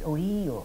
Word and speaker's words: Ohio: In fact, Ohio is an Iroquois word, only they, as usual, they don't pronounce it right. It's Ohio.